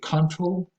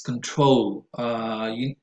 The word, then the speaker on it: control: And again, I hear a tendency to say control. I don't know where it comes from, but again, it's control, both for the verb and for the noun.